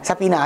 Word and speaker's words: sapina: Bukan Safina ha, kan? Sapina kan?